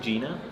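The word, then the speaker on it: Jena: So talk to me more about the the Jenna facility. You say, how do you say it? I think Gina.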